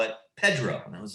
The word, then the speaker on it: Pedro: Yeah, they call it Pedro, even though it's spelled Pedro. Took me a long time to get that right.